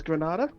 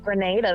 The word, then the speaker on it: Grenada: What is Grenada? Correct, Rogue. Oh yeah. Ben, I think it's pronounced Grenada, though, isn't it? Depends on if you're American or anyone else.